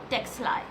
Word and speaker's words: Ctexli: The C is silent and that's how I call it texli and this is the brand name.